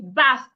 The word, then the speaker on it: bath: Put your tongue in between your teeth. Blow air. So if I want to pronounce this word, I should say bath.